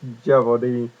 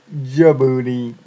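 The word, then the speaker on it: Jehuty: named jevy and yes a lot of people mispronounce jeevy saying Jaboody game trailers and others but it's jeev Leo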